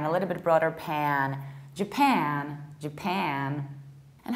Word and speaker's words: Japan: And another one, the one that is usually pronounced like Japan, and it's Japan, Japan. So you need to stress the second syllable, not the first one.